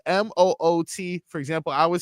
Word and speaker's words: Moot: Moot. Anyone heard of? Wait, moot? spell it. MOOT. Moot. Yeah, like hey, you like a moot point.